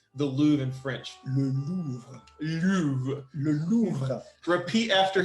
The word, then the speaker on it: Louvre: So the Louvre is really an amazing place. How do you say the Louvre in French? Le Louvre.